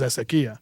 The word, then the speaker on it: Ezequiel: The way my family says it in Spanish is Ezequiel. Okay.